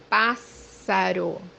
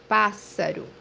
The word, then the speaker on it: Pássaro: The example that we have here is the word bird, which means Pássaro. Pássaro. as you see here in the word, the digraph SS is pronounced as S. Pássaro.